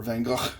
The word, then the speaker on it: Van Gogh: I'm calling this one Starry Night because it reminds me of the Van Gogh painting, or Van Gogh, if you're pronouncing it somewhat appropriately in the Dutch language.